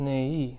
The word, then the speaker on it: 내일: So in this case, 내일, but sometimes it sounds like yeah, not e.